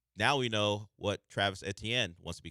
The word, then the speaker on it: Etienne: Now we now we know what Travis Etienne wants to be called. And I will no longer say ATN after this.